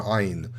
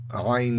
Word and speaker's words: Ayin: it might have been that Ayin doesn't have a sound. It's actually pronounced as an oh. So it's a very absurd sound again.